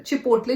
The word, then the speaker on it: Chipotle: अभी तक पसंद है, तो मैं उसको भी चिपटोले प्रोनाउंस करती थी. मैं तभी भी चिपोटले नहीं कह पाती थी.